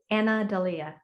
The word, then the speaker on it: Anna Dalia: anna and adelia so just sort of like break them break them apart and like anna and then delhi and then just bring them together anna dalia yeah okay um okay